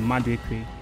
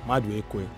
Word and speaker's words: Maduekwe: Oh, the first one, Maduekwe. Maduekwe.